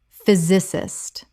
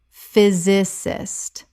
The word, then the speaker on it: physicist: Physicist. Correct pronunciation. Physicist. 3 syllables. The PH makes an F sound and the Y makes an I sound.